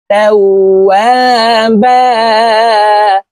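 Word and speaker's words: تَوَّابًا: ইন্নাহু কানা তাওয়াবা, ওয়াওকে দুই ঠোঁটের মাঝে ফাঁকা রেখে উচ্চারণ করব।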